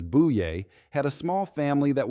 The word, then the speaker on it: Boyer: The neighbors of my grandmother, the Boyers, whose surname is pronounced as buouay, had a small family that was also expanding, reflecting the vibrant life of a close-knit community.